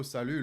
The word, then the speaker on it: salut: I know, salut, lol. Nice. So yeah, you speak French. Salut. But you're not one of those people that pronounces the T, no?